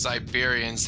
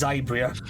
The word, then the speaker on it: Zybria: Okay, now I'm imagining these Siberians having Siberian accents. Yeah, sorry, I pronounced it wrong. It's Zybria, not Siberia.